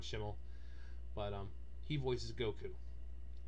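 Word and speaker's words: Schemmel: that has been long-running sean chamel uh sean schimel chamel however people pronounce it different ways it's sean schimel but um he voices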